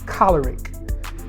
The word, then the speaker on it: choleric: choleric temperament that's right that's the way you pronounce it choleric and the cholera temperament falls under the extrovert category so last week we talked about the sanguine uh today we're talking about the choleric and both of those temperaments are considered extroverted